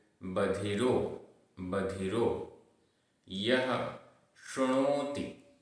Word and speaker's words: शृणोति: यह शृणोति। शृणोति, यहाँ पर नीचे रेफ है।